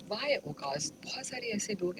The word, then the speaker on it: Ucaaz: औकाफ, औकास या औकाश? नहीं, औकास. स्पेलिंग करें. ये औकास है. औकास ये आइन से शुरू होता है. स्पेल क्या है इसका? Spell UKAZ. UCAAZ.